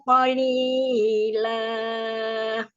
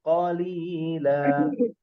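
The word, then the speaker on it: قليلا: Wala tashtaru bi ayati thamanan qalila. Qalila. Perhatikan li. Li itu dua harokat. Nggak boleh dipanjangkan. Tadi baca qalila. Tidak boleh panjang.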